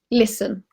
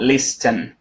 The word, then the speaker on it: listen: someone's asking listen listen you do not pronounce T in listen right listen listen yeah it's not least 10 its listen listen ah listen listen listen